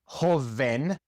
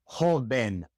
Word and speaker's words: joven: It is not joven, it is joven, like a B.